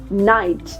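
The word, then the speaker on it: knight: the last one इज नाइट यस सो I hope you कैन see that when ever there is a word that begin with के एंड एन वी are going to keep the के silent and हम word को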